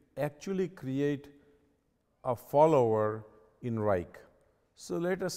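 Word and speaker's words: Wrike: really worked for me is besides outlook is reich and it's spelled w-r-i-k-e what you can do is you can actually create a follower in reich so let us say i want to send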